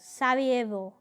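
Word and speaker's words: Sarajevo: The capital of Bosnia is Savvo.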